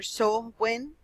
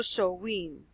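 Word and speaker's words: Samhain: begin their year of Sun hime pronounced either so when or so weaned others see jewel at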